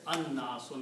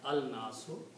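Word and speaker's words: الناس: And it is pronounced as an-nasu, not al-nasu, because noon is a shamsi letter.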